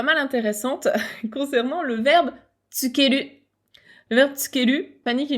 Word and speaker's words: つける: se prononcent de la même manière, ils se prononcent tous tsukeru et ils peuvent être écrits en hiragana, c'est OK.